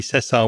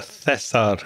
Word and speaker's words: Cesar: for mispronouncing your name it's actually Cesar with a a hard s and not a thar with with a soft C there so I apologize